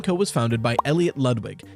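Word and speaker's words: Ludwig: was founded by Elliot lwig yes the game pronounces it like the YouTuber not the Koopa sometime in the 30s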